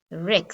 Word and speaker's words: wreck: my wrist wrong i got the answer wrong wreck this could be like a shipwreck right i